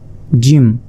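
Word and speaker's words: ج: এক নুক্তা এটা হচ্ছে জিম এই জিমকে চার আলিফ পরিমাণ টেনে পড়তে হবে অর্থাৎ অর্থাৎ চার সেকেন্ড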